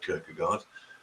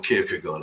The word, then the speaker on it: Kierkegaard: Abie Kierkegaard, if you would have heard of Kierkegaard, or Kierkegaard, I should pronounce it properly, Christian existentialism.